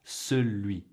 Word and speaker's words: celui: You can say it celui and it's perfectly fine. But I just want you to be aware of it for when you're hearing it, so you can actually comprehend and adequately respond. Celui.